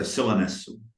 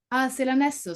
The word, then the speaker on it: Silanesu: So my Italian is not very good, but my pronunciation is even worse. So Silanesu. Silanesu, so more of a, okay, got it.